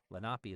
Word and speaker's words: Lenape: And the Delawarees were also the Lapi or Lenape. Lapi is what how they say it back here.